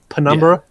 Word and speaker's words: Penumbra: Penumbra, is that how you pronounce it? Penumbra. I was thinking the P was silent, but Like pneumonia? yeah, bro. but I like this version better.